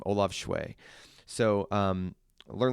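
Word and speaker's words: Schewe: And I want to do Learn Like a Pro by Barbara Oakley and Olav, and I think it's Shway is how you say his last name, Olav Shway.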